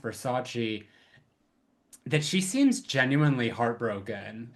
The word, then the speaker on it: Versace: because that's the one part in the movie where he's like it's pronounced Versace that she seems genuinely heartbroken and embarrassed because